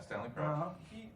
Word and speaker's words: Stanley Crouch: I've read some stuff, and I read that Stanley Crouch, is that how you pronounce it? Yeah, Stanley Crouch.